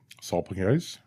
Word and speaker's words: salpingitis: Salpingitis? Salpingitis. Okay. Yeah, you said it right. You nailed it.